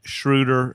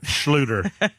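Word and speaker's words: Schluter: Cliff always gets on me about how I say it incorrectly. Not shrruder. Schlutoter.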